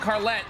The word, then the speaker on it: Carlette: Originally, I thought it was like Carlisle, but you know, there's no way that works. The yit is silent, Carlette.